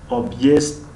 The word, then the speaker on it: объезд: اما در زبان روسی د با پرگی تلفظ نمیشود و کمش مانند به حرف ت میکنند. یعنی obъезд ت پرام نیست و دی پرام نیست، بین د و ت.